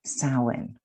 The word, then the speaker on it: Samhain: have this amazing high holy day that's called samhain and it's spelt s-a-m-h-a-i-n which when you look at it you'd never